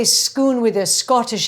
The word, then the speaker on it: Scone: where ancient Kings received their coronation which is schoon so it's it's possible that the American pronunciation is maybe closer but I doubt it anyway because if you say schoon with a Scottish accent it's schoon and then